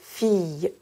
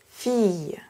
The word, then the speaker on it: fille: En français, les lettres I, L, L font le son consonne Y. Je vais donc prononcer fille, fille.